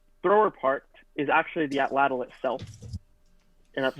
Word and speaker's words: atlatl: and uh this thrower part is actually the atlatl itself and that's spelled atl atl and the long sphere is